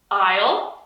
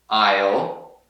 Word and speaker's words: isle: Isle. Isle. Isle. Isle. Island. Island. Então, os primeiros dois têm a mesma pronúncia, né? Exact same.